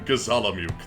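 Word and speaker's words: Gizamaluke: I walked through the mist in Gazalamuk. That's how it's pronounced by the way, Max.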